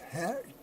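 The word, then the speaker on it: ח: It's the hat, or the chet, to be pronounced hat, cat, chet.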